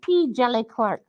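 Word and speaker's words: P. Djèlí Clark: The D is silent. It's like Django. So it's P.Dejili Clark.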